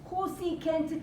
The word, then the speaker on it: cosecant: more uh cat cosecant you have to know how to pronounce Cosi can't means what one over